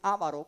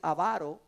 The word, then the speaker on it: avaro: fruto pero el avaro en algunos lugares dicen avaro pero realmente es avaro según el diccionario no tiene la el acento en la a no tiene Paz El